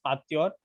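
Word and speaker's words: Pasteur: पास्चर बोलते हैं, इट is pronounced as पास्च्योर, बट आप लोग पास्चर ही बोलना बिकॉज पास्चर बोलोगे तब जाके स्पेलिंग राइट आएगा.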